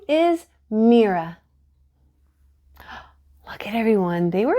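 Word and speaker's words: Mirha: couldn't say it right they stretched out the I until it sounded like an e and their R sounded wrong some people even forgot the H hey Mina Miriam MAA hey Miro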